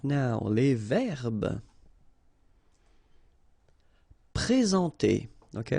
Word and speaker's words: présenter: Okay, remember when we've got this accent aigu like that on the top of sorry, then you should pronounce it e. All right, and then you combine the two en nasal en.